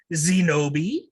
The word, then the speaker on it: Zenobi: i will be playing zenobi uh rhymes with kenobi i am the junk